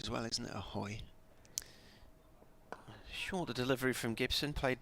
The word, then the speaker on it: Hoy: A hoy. Shorter delivery from Gibson, played towards the cover area. A hoy. It's not a foy. No, there's a hoy. There's a hoy, is there?